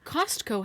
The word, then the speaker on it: Costco: Okay, Costco has a T.